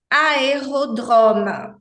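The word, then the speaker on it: aérodrome: isso na verdade gente Esse é final é mudo é em acento na posição final é mudo e esse som éa que eu Estou pronunciando é do m tá é o ema em francês a gente não fala M como em português né Parece até que tem o i no final não por isso que a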